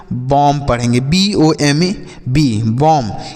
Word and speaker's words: bomb: अगला देखिए BOMB, तो इसे क्या पढ़ेंगे, इसे हम बॉम्ब पढ़ेंगे, BOMB बॉम्ब। इसे बॉम्ब नहीं बॉम्ब पढ़ेंगे, यहाँ पर बी साइलेंट है।